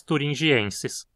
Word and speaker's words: thuringiensis: Uma das mais famosas atualmente é Bacillus thuringiensis. Aqui a penúltima sílaba termina em consoante de novo, de forma que a pronúncia é como paroxítona também. Thuringiensis.